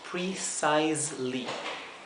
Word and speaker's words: precisely: Recuerden que esta se pronuncia como una S suave y esta es como una S zumbada o vibrada.